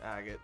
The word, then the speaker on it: Agate: And they do pronounce it Agate in English, which is weird.